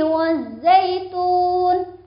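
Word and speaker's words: والزيتون: Sebelum huruf za ada alnya itu al-syamsiyah. Apa itu al-syamsiyah? Al-syamsiyah itu al yang dianggap tidak ada, karena bertemu dengan huruf za, huruf syamsiyah. Ada tanda tasjid berarti harus ditekan, membacanya harus ada penekanan.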